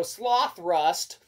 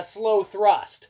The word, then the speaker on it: Slothrust: try that's right so it's either uh you know sloth rust uh or it's gonna be uh slow thrust uh you know point of it is uh it's spelled s-l-o-t-h-r-u-s-t so sloth rust we kind of like that but it's probably slow thrust but it doesn't matter